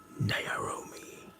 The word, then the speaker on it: Naomi: So, my name is pronounced naomi. Naomi.